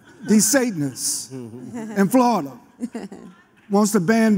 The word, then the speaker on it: DeSantis: DeSantis in Florida wants to ban books, wants to